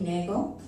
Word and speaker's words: Nagel: to speak with brandi nagel rhymes with bagel and her company is